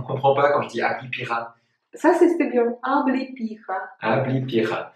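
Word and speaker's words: облепиха: Moi, j'adore les thés au Abipira. Ablipira, c'est de l'argousier. C'est un tout petit fruit. Ablipira. Merci, professeur, pour la prononciation.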